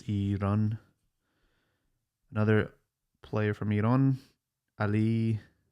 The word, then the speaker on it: Iran: I know in America we say Iran, but I know it's not Iran, it's Iran.